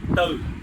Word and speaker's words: tư: So whenever you say 4 in Vietnamese with a northern dialect, you say tư. Tư means 4. But if you shift the tone a little bit, tư becomes tử, and tử means death.